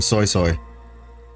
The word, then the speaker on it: Suisui: Yeah, that's how you pronounce her name. Soy Soy.